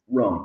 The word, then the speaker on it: Roan: Roan, R-O-A-N.